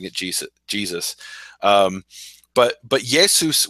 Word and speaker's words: Jesus: a J in English nobody pronounced it J Jesus they pronounced it yesus just like in Greek over time people